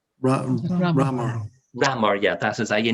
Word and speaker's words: Ramor: How do you pronounce Loch Ramor or Ramor? Which is it? Ramor.